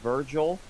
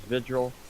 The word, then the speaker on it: Vigil: The three new operators are Virgil, I believe, Sophia, Say Virgil. isn't it? What is it? How do you pronounce it? It's Vigil?